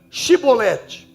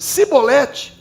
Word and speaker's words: Shibolete: Se respondesse que não, diziam: então diga Shibolete. Se dissesse Sibolete, por não conseguir pronunciar corretamente a palavra, agarravam-no e matavam-no nos locais de passagem do Jordão.